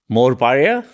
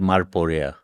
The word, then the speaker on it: Morparia: In Morparia, the cartoonist. Who? Morparia, or is it Marporia? Marporia.